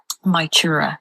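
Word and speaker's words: Mag Tuired: My chura.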